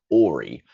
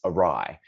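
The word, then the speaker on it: awry: Um, some students might read this and read it as a w makes an or sound. So it looks like ori and it sort of does look like. If you don't know this word, it's arai. Um, this a is a prefix. And um this is the same ry as in ary smile.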